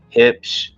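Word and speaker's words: Huebsch: brands IPO primis hip I know how it sounds but that is how you say it hip unimac and Speed Queen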